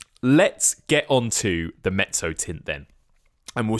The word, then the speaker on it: mezzotint: It's such a distinctive word, those two double Zs, and it's got that Z sound, doesn't it? Like pizza. That's how you pronounce it, the Mezzotint.